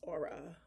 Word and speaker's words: Aura: It's definitely like ore, but aura. And aura is like aura. It's aura.